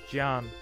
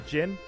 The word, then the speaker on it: Jin: Jan. Oh, sorry. Jin, I need to get the Western pronunciation out of my head. We're playing a We're playing a Chinese inspired game.